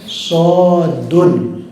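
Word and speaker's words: ص: Sama dengan sod ini juga asli tulisannya sodun gitu, sodun. Nah, kalau yang belajarnya Iqra tidak dijelaskan seperti itu, dia ketika mendapatkan fawatihus suwar seperti ini, dia nggak bisa bacanya. Paling bacanya so, itu kan so gitu.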